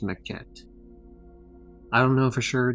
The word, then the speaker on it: Maquette: Um, you could pronounce it like Maquete, which is obviously not how it's pronounced because there's no way in fuck that's Spanish, and also it wouldn't be spelled like that if it was Spanish.